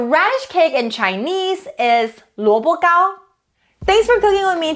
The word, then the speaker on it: 萝卜糕: The word of the day today is 萝卜糕.